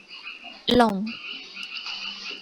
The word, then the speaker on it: lent: Kemudian ada long, LENT itu dibacanya long.